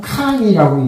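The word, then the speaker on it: 炕: 그걸 중국말로는 캉이라고 읽어요.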